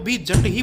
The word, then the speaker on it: Jat: कई जाट भाई, अनजाने में। जेयू डबल टी नीचे लिखें। जूट का उच्चारण करना। इस यद्यपि गलत। जेयू डबल टी-केओ जाट-ई ऐसा कहा जाता है।